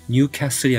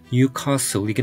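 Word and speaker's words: Newcastle: 아라도 유니폼은 익숙하실 거예요 영국식 발음으로는 뉴캐슬이 아니고 뉴카스이긴 한데요이 A 발음은 영국 내에서도 지역 편차가 커서 막상 뉴카스 사람 본인들은를 짧게 발음해서 뉴캐이라고 한다는 얘기도들은 적이 있어요 찰스는 스코틀랜드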